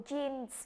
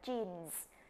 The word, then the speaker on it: jeans: À, chúng ta không cứ kêu bằng quần jean nha. Trong tiếng Anh thì chúng ta đọc là jeans. Jeans. Jeans. Đối với quần có hai ống nên chúng ta sẽ không có ờ, mà các bạn thấy là cái từ nó có S ở phía sau nó, đúng không?